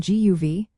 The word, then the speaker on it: Dia Daoibh: First, practice dia until it feels natural. Next, focus on guv, paying attention to the soft g sound, almost like a breathy ya before the uv.